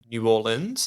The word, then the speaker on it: New Orleans: medical doc over in New Orleans. Is that how you pronounce New Orleans, it? Yeah. New Orleans. Don't say New Orleans, though. No, they'll know you're not from there. Yeah.